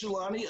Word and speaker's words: Jelani: Yeah, like growing up, a lot of people couldn't pronounce my name. I got called stuff like Gelato and Jumanji and Giuliani, and that was just my third grade teacher.